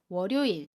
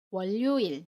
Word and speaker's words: 월요일: 전략 이라고 발음하지 않습니다 월요일은 월요일 이라고 발음의 어 원료 일 이라고 발음하지 않아요 목요일은 목 요 일